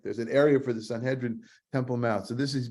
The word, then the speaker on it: Sanhedrin: the Greek is the sun hedrin the sun hedrin soon hedrin means the the ones who have come together to Jud to judge Sanhedrin as it's pronounced in in Hebrew and Aramaic um it's a it's